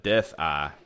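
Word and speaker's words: DethI: But the last boss of that game, his name is Death Eye. I think it's spelled D-E-T-H and then a capital I.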